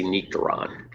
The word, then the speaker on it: Nectaron: But if you talk to the people in New Zealand, they say Nectaron. So you can take your choice how to pronounce it.